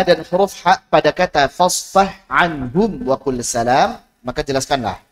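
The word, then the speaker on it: فَاصْفَحْ عَنْهُمْ: Wa ha'a, dan huruf ha pada kata fasfah anhum wa qul salam, maka jelaskanlah fasfah anhum. Fasfah anhum. Ini mutajanisain kan? Ya enggak? Ha dan ain. Fasfah anhum, tapi izhar. Bukan fasfah anhum.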